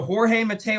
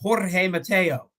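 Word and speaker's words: Jorge Mateo: in a Spanish name when it's backto back RS when it's two RS in a row you roll the R so Jorge Mato it's not Jorge Mato it's Jorge Mato you don't need to roll your RS for one R like come on let's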